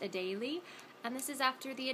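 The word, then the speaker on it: Adélie: like I think a lot of people might pronounce it Adelie but there's technically an accent mark over the first ii and so that would make it pronounced a daily and this is after the Adelie penguin so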